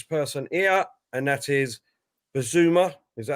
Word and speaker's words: Bissouma: that is this person here, and that is Bissouma. Is that how you say it? Yeah, Bissouma.